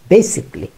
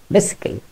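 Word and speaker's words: basically: যেটাকে আমরা বেসিক্যালি বলি বা বেসিক আলি বলি, যাই বলি না কেন, এর উচ্চারণ ব্রিটিশ এবং আমেরিকান দুটোতেই বেসিকলি, নট বেসিক্যালি।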